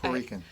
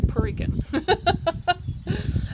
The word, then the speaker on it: Puerto Rican: Oh, I said it wrong, didn't I? Puerto Rican. I actually said the T. It's Puerto Rican.